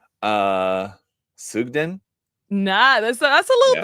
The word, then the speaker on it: Sugden: my second name uh sugden nah that's that's a little bit it's a bit um sugden but I get I get people pronounce it like fudge so I get suon